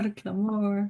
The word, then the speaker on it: Clamor: your last name right quite right Clore yes yes you got it like Amore Clore so um yeah I'm